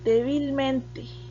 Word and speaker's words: débilmente: entonces es una palabra la palabra débilmente tiene el acento en la cuarta posición débilmente estabilidad por lo